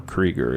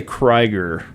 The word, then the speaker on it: Krieger: him okay I say Kreiger to make people happy but it is Krieger okay well it's spelled k-r-i-e-g-e-r so I would assume Krieger but it's Krieger okay but anyways you know